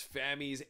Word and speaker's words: Fami: in the comments that they were hearing it was rhymed with Tommy but then they saw a video from her own channel that she pronounced it rhyming with Tammy so Fami it is please correct